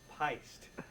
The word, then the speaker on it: Pyst: It's pronounced pist. Okay. It's pronounced pist.